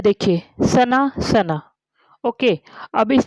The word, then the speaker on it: सुना: ये देखिए सना सना।